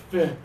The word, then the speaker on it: fit: hear the low tongue loop try for me fit really good I saw you open up and